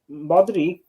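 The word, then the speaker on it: Modrić: move for them because they just got Modric that's how you say his name um yeah he's gonna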